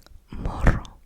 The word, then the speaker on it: morro: One of them is morro. Morro. Morro. Morro. So you have to roll your R's, the little roll your R's.